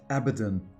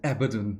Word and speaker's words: Abaddon: say it like that Abaddon I for almost two decades I said Aberdeen now I listened to